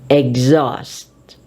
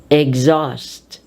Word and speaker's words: exhaust: of X is when X is followed by H H is silent it is dropped therefore we say exhaust exhaust exhale exhibit exhilarate exhume